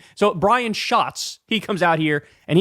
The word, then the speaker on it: Schatz: until Crystal told me, it's pronounced Brian Schatz. And I have to say, Brian, good move, sir, because I always thought your name was Brian Schatz, and that is a very, very unfortunate name.